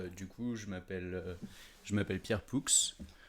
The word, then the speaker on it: Poux: Alors du coup, je m'appelle Pierre Poux. Le X se prononce.